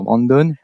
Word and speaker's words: Brandin: pod parce que c'est ça s'écrit Brandin mais il faut dire Brandon merci cétait tous foutu